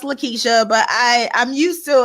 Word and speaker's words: Lakitia: you are perfectly fine my name is pronounced Lakeisha but I I'm used